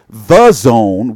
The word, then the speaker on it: DAZN: it confuses me because I try to say The Zone, which it's called, but it's spelled this way. Damn it. This silly way with this D-A-Z-N is weird.